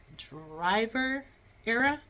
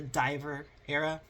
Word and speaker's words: The Driver Era: I'm going to see the Driver Era. The reason why I stopped there because this whole time I've been pronouncing it the Diver Era, as in like they dive, because like I have listened to them.